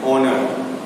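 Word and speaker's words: honour: होते हैं कॉन्सोनेंट से, लेकिन जब हम लोग बोलते हैं वो वर्ड तो एच जो है वो कॉन्सोनेंट साइलेंट हो जाएगा. ठीक है, और जो बाकी हिस्सा है वर्ड का वो it sounds like ए vowel and it will have अ vowel. ठीक है, उसका साउंड भी वॉवेल की तरह होगा और जो वर्ड साइलेंट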